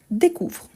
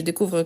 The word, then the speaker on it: découvre: ne change pas car e e s e e nt on ne le prononce pas donc c'est pour ça